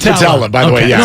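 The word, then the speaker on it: Putila: Is it Petula or Patella? It's Patella, by the way. Yeah, it's Patella. No, we're all learning together. Well, no, it's a U that's pronounced as an E.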